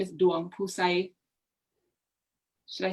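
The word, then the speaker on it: Duangphouxay: it's not yep um my middle name is duan pusay should i spell it it's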